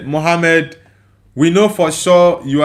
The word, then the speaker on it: Muhammad: Uh it says, "When you say Muhammad, we will also know that you are a foreigner because we pronounce the letter H more deeply than that.